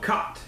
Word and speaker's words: khat: they were chewing called khat. It's K-A-T. It looks like cat, but it's pronounced khat.